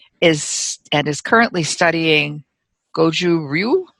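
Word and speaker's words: Gōjū-ryū: and is currently studying goju ryu would you pronounce that that's right it's goes uru you got it the first time i did it my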